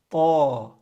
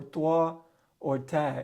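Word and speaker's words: طاء: The next letter is ta. Ta is similar to the T sound. All right, but it's not ta. It's similar, but it's not the same. It's different. It's not ta. It's ta.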